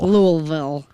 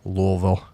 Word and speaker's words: Louisville: it's all the way it's Louisville Louisville that's how they say it Louisville um um they're hosting